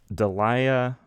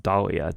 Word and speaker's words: Daliah: The film's lead actress, Dalia, I'm sure it's pronounced Dahlia, Daliah, Dahlia Lavi, said that this was her favorite film and performance of hers.